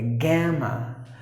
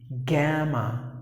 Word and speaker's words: gamma: like Alpha Beta Gamma not odds add a gamma that's the way you have to pronounce the word gamma naught gamma gamma it is the third alphabet